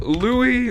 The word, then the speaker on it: Louis: Okay, so Louie, even though it's spelled like Louis in my opinion, but whatever.